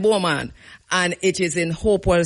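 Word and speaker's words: Beaumont: right where somebody said I'm going spell it to you because you don't know where me talking it is B E A U M O N T B right but we call it Bulman and it is in Hopewell St.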